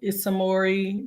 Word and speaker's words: Ismori: Harris with us um who's the founder of isamori Naturals did I say it right I did